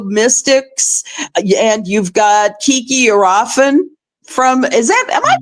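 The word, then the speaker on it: Iriafen: Um, you've got uh the rookie Sonia Citroron uh from the Mystics and you've got Kiki Arafen from Is that Am I pronouncing that right? Yes. Arafen.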